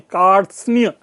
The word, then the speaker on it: कार्त्स्नीय: हम जब उच्चारण करते हैं तो ये सारे शब्द यहां विद्यमान रहते हैं, और तब हम कहते हैं कार्त्स्नीय। र, त, स, न, यह स्पष्ट सुना जा सकता है।